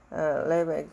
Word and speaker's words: Levi: The priest, 그 제사장들, son of Levi, 레는 혀를 천장에 좀 붙여서 발음하면 이렇게 발음하면 좋아. 레바이, priest 같은 경우는 천장에 닿지 않고, sons of Levi 그러면은 레위족의 아들들이죠.